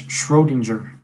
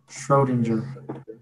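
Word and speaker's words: Schrödinger: I think that's Schrodinger. Schro Schrodinger. It's German.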